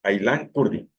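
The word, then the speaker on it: Aylan Kurdi: Así se pronuncia como está escrito, Ailan Curdi.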